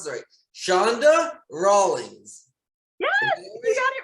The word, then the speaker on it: Chanda Rawlings: me right now let me see if i pronounce that shonda rawlings yes we got it right awesome and she